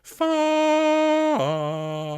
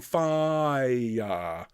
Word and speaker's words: fire: If you could sing far rather than fire. All right, it's just one syllable. Far.